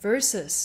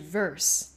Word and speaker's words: versus: 很多人会把 versus 这一个音，如果他